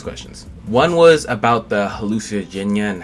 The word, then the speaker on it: Hallucigenia: Here's actually how you pronounce the word. Hallucigenia. Hallucigenia. Hallucigenia. Hallucigenia. Yeah. And it sounds weirder than hallucigenia, but Hallucigenia is how you say it.